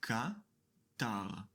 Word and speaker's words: קַטָּר: We pronounce it Ka-tar.